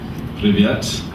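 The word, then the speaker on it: Привет: Privyet, that's how you say it, hello.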